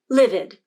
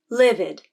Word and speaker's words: livid: Livid. Both stressed and unstressed I. Livid.